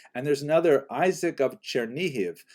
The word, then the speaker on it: Chernihiv: And there's another, Isaac of Chernihiv, sometimes recorded as Isaac of or Yitzchak of Chernigov, that would be the Russian pronunciation of the same place, also a 12th century